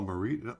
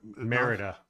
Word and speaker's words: Merida: Marita is the Disney princess from Brave oh Marita is it yeah her name is marid mer Merida Merida oh Merida okay my bad well I